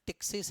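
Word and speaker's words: ptyxis: अब यहां अंग्रेजी में प्रोनाउंसिएशन टिकिस है। पी साइलेंट है।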